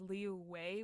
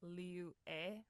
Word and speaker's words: Liyue: of Liyue, because like sometimes it comes out as Liu Wei with like a w sound. It's actually supposed to be like Liu E, like with an e Ah, sound.